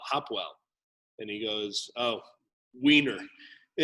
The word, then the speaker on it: Hopewell: saying like you know people always mispronounce our name it's hopwell hopwell and he goes oh